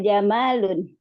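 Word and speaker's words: جَمَلٌ: Hadza jamalun. Ini bacanya pendek ya.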